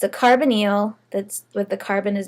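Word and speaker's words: carbonyl: contain this type of a bond called a carbonal okay that's how you pronounce that carbonal it's a carbon double bonded to an oxygen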